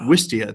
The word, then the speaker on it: Wistia: How do you pronounce that? Wistia.